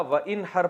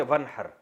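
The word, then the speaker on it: وانحر: हैं अरबी में नहर तो वन असल में था वन हर पढ़ा जाता है मिलाकर वन हर तो अलिफ साइलेंट हो जाता है वन हर फसली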